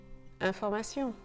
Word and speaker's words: information: Information, information. The pronunciation here goes from tion in English to sion in French.